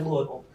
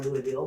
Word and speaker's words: Louisville: Listen, I want to take you back to Louisville, as some say, or Louisville, whichever way you want to pronounce it, because they do both.